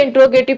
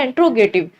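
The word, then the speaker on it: interrogative: ठीक है, कुछ लोग इसे इंट्रोगेटिव पढ़ते हैं, बट सही वर्ड जो उसकी प्रोनाउंसिएशन होती है ना, वो होती है एंट्रोगेटिव।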